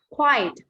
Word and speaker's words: quiet: This adjective have a two syllable.